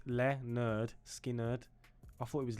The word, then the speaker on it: Lynyrd Skynyrd: pronounce it but it's literally says underneath it pronounced Leonard skinnard is that how you is that how you say it that's how it says pronounced leard skinnard I thought it was linard skinnard okay that's what it is today we're listening